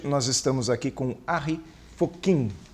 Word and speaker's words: Fockink: E até com o meu sobrenome é muito importante usar a pronúncia holandesa, bem chamada Harry Fokkin, e não usar a pronúncia inglesa, que ficaria Harry Fucking, né?